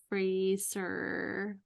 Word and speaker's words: Fraser: And then curiously enough, I watched The Mummy with your guy Brendan Fraser. Rhymes with razor.